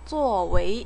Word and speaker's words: 作为: 作为, 웨이가 이성으로 발음되는 거에 주의하세요.